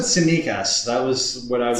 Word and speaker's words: Tsimikas: Is that how we pronounce it? Tsimikas. I purposely did not send you guys any messages because I was hoping to see how you guys would try to pronounce it. I said Simikas.